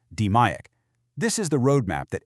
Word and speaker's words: DMAIC: It's called DMAIC, pronounced DMAIC.